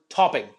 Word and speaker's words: topping: to pronounce the word topping syllable here is on the first uh sorry the word stresses on the first syllable here uh so I need to exaggerate the first ta sound topping fantastic let's do